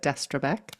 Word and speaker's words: Destrebecq: Yes, so I'm Destrebecq. That's the American pronunciation of my last name.